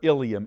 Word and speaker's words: ilium: They sound alike, but they're spelled differently. Watch me please. The first one is Ilium, I-L-E-U-M. That's the last part of your small intestine. The other ilium in your body is